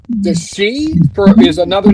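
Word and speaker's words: sídhe: The the she is spelled uh it's sh h ih in Ireland and in the ga it's shei. That's what they call the the benshi like the word banshee.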